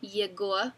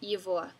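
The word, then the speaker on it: его: to be the same his spelled like yagoa but pronounced is always going to be ivoa no matter what case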